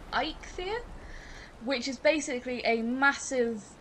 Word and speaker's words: Eikthyr: encounter in Valheim, which is, I'll try and pronounce it correctly, Eikthyr, which is basically a massive elk stag with